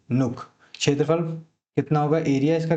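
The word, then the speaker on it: Nuuk: नुक। इंग्लिश में स्पेलिंग इसकी होगी एन यू यू के नुक।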